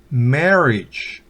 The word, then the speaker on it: marriage: Marriage, no marriage, sino marriage.